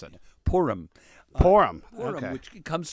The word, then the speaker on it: Purim: Pronounce that again, because I don't even know how to pronounce it. Purim.